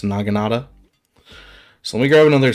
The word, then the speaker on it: Naginata: And the samurai dudes are going to be hard to kill with the Naginata, I believe is how that's pronounced, Naginata.